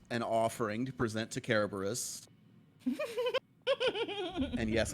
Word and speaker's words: Kerberos: And yes, I said it that way on purpose because I think it's funny. That would technically be the right way to say it. Yeah, I know, but it's also not. because we're in America.